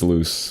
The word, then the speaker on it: Luce: Okay, it's Luce, which makes sense. It's like Lucifer, so it's Luce.